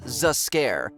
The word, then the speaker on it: Zs'Skayr: Come on guys, his name is literally pronounced as Zs'Skayr.